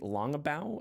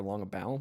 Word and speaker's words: Longabaugh: a game led by Robert Parker and Henry Longabaugh. I've never pronounced his name. I've only read it, so I think it's Longabaugh or Longabaugh, maybe.